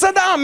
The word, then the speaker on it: Saddam: one the guy's just in his bunker it's Sadam it's not that hard to pronounce what's wrong with this guy s s